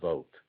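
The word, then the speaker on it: Vogt: Lessa and V GT I think that's pronounced vote just called a a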